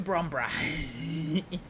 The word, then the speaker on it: Bromborough: It's not like as the Americans say, borough. Like it's Edinburgh, not Edinburgh.